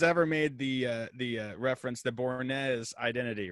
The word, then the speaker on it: Bournes: I'm sorry I did not correct you before we started recording, but my last name is actually pronounced Bournes. It's all good. The S is silent. It's Bournes.